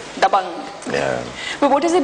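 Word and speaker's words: Dabangg: But I want to be sure I'm pronouncing it correctly perfectly. Dang. Dang. It has that power in it, right? Dabang.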